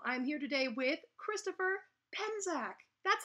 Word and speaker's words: Penczak: I'm here today with Christopher Penczak.